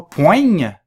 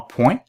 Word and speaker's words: poing: Alors, attention, on ne prononce pas le G, c'est pas poigne, c'est vraiment point.